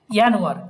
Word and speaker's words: Januar: যে জার্মান মোনাটে বা মাস, যেমন এটাকে বলা হয় কি ইয়ানুয়ার, এটাকে কি বলা হয় ইয়ানুয়ার। কেন ইয়ানুয়ার? জেড লেখা আছে তো, জেডকে আমরা কি উচ্চারণ করি? ইয়োর, তাই না?